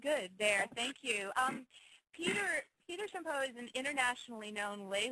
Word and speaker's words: Champoux: Americanized, it's Champoux, but up in Quebec, it's Champoux. So, very subtle difference. It's like champagne or something. You got to use that champ there in order to be properly pronounced.